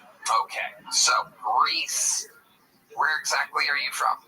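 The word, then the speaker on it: Rhys: Yeah, but you get mad every time somebody doesn't call that Reese, even though it literally isn't spelled like the name Reese at all. It's Welsh. You know where Wales is?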